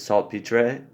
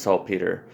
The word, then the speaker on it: saltpeter: It's written with a R-E, so it might be pronounced in certain places saltpetre, but I know it as saltpeter.